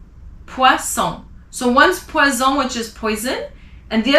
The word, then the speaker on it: poison: If it's one S in the middle of a word like poison, it's a Z. Sounds like a Z, poison.